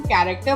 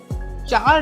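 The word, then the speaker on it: char: कैर को हम कैरेक्टर pronounce करेंगे, चार नहीं, कैरेक्टर।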